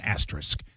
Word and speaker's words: asterisk: And then one day I went, "Oh, ass is an asterisk. That's how I'll remember it. There's two S's. Ass. Asterisk. And there we go. There you go. And now I don't say it wrong anymore.